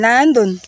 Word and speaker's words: Landon: So, ang pag-pronounce niyan, Landon.